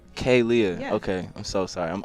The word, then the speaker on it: Khalia: paying the invoices but Kalia is in expensive at I'm sorry wait I said it right this time finally no you didn't damn k k Leah Kay Lea okay I'm so sorry